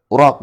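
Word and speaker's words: عُراق: Al-uraq dikatakan di sini al-uraq bi dhammil ain jam'u arqin. Uraq bacanya, jamak dari kata arqin.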